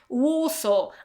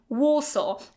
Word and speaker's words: Warsaw: And the third word in this category is Warsaw. I live in Warsaw, okay? So again, you can't say, I live in Warsaw, okay? No w at the end. I live in Warsaw.